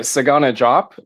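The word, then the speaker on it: Desagana Diop: real quick is um I don't understand why his name was pronounced the way it was, but Sagana Jop. I took four years of French and I can't explain to you why we don't pronounce the D and Desagana drop.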